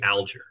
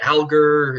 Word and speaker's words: Alger: they'd say oh like do you go by is it algar is it is it aler and then sometimes some some people would do the French pronunciation that'd be like oh I like no no it's um it's just classic like Horatio aler like for aler so yeah dude no